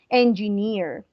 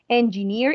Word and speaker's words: engineer: uh students here right even though it looks like difficult to pronounce it is not it has three syllables ng near engineer engineer engineer engineer engineer or